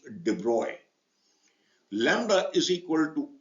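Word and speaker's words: de Broglie: is that but the French scientist it is pronounced debroy Lambda is equal to H by P or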